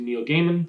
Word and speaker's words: Neil Gaiman: her music again um and she's married to neil gaiman so that helps that's how you pronounce his name the author um but uh